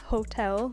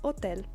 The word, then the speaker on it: hotel: But it is not pronounced hotel like in English because the H is always silent, and so we have hotel.